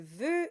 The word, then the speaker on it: veux: And veux is just like feu. It's that very rounded sound. Je veux. And the X is silent.